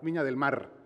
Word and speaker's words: Viña del Mar: And also important, the final R is a hard R, Viña del Mar.